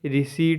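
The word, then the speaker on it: receipt: टी P silent है रिसी पढ़ेंगे मतलब रसीद होता है पर रिसीप्ट नहीं पढ़ना है रिट पढ़ना है पी एस यू एस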